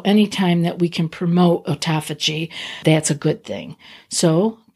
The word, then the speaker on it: autophagy: It improves longevity and promotes autophagy or autophagy, depending on which camp you are in and how to pronounce that. I was taught autophagy long time ago, which means the destruction of damaged or redundant cells.